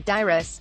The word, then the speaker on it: Dairis: of the proceedings after giving media the correct pronunciation of his name dyrus he exhibited glia but becoming a part of